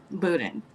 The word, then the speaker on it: boudin: But I think the correct pronunciation is, Ruthie, what is that? Boudin? Boudin.